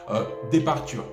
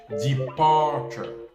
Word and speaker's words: departure: connaissance en phonétique va prononcer ce mot, départure. Tu vois, alors que si tu as des connaissances en phonétique, tu sais très bien que ce genre de mot, ça se prononce departure.